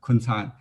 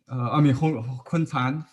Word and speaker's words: Kun Can: In Chinese, in English pronunciation, Can actually C pronounced as a TS sound, and Huang Binhong is